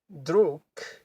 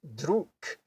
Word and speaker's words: друг: So this is not actually pronounced drug, it's pronounced druk, because a G and a K are a pair.